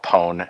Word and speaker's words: PWN: review today is a game called pone it's pwn if you're trying to spell it um so this game